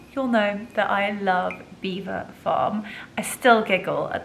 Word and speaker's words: Belvoir: know that I love Beaver Farm. I still giggle at the fact that I called it Belvoir and they had to tell me that I was actually pronouncing the name of their brand wrong.